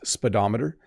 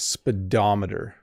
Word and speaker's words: speedometer: English Learners before it's speedometer it's said very quickly you don't over pronounce the syllables so the O in the middle does not make an o sound it's speedometer so it makes like